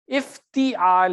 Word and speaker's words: افتعال: حروف کو، ٹھیک ہے۔ میں وہی تلفظ ٹھیک کرانا چاہ رہا ہوں، آپ کا ہجے میں بھی غلطی ہے، افتعال ہے نا، تا کے نیچے زیر ہے نا، تو آپ اتا زبر کیوں لگا رہے ہیں اس کی جگہ؟